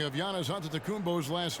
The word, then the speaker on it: Antetokounmpo: the spelling of Giannis Antetokounmpo's last name. He helped set the record straight of how you pronounce it. The Nigerian way, you gotta say with a D.